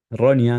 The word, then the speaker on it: Ronja: Yo te puse a Ronja 9 89. Yo te puse Ronja para 910. Florencia Ronia en realidad es la se pronuncia.